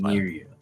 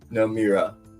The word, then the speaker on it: Namira: Really, the emphasis is on the E, so it's like the Namira, but Namira. Okay, is fine. Namiria. Okay. Nope. Namira. That's much better. Yeah. We'll start with the right syllables of pronunciation. You get the emphasis later. Namira, yeah. 3 syllables.